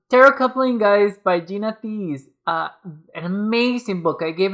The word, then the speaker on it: Thies: I thought it was I thought it was pronounced something like Thies or Tees. But I looked it up and it's Thies.